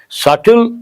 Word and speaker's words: subtle: Subtle, the letter B is silent.